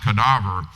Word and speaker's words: cadaver: In Latin, it's spelled the same, but pronounced cadaver.